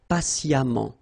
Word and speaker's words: patiemment: So as I told you, even if you write it EMMENT, phonetically it goes like amant, patiemment.